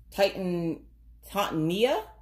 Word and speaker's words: Titania: if i mispronounce this i'm going to say it's tatiana taught titania and oberon okay there's the name